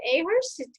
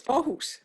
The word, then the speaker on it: Aarhus: We were a couple of years ago at Ahurst. I don't know if I even said that right. We were at a college there, and did I say it right, Christina? No, it's Aarhus.